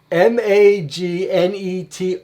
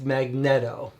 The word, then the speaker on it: Magneto: what's his name okay i'm going on record m-a-g-n-e-t-o should be pronounced magneto it's like it cringes me to hear that